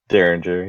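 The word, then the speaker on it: Derringer: Uh, did I pronounce that right? We don't have guns in Canada. Daringer. Daringer.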